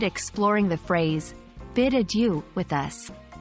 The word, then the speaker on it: adieu: leaving College three pronunciation remember ad you is pronounced as I D yo o but don't stress too much on perfecting the French accent the anglicized pronunciation works just fine we hope you've enjoyed